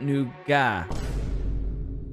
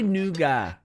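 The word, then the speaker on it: nougat: nugas in in America in Europe we pronounce it noua calm down I know what you're thinking put the pitchforks away we say noua that's how we pronounce it you say n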